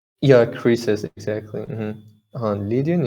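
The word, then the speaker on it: Croesus: know it's like oh apparently the pronunciation is creases yeah creases exactly on lydian it's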